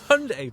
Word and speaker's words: Hyundai: what's the wrong answer I will say hi die yeah I know Hyundai want it called Hyundai yeah but uh even though their adverts in the past were wrong yeah they're trying to be like no it's Hyundai but no I'm I'm